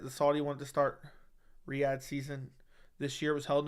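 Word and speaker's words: Riyadh: same time rad season okay Riad it's Riad I was saying it right way the first time okay Riad season Jon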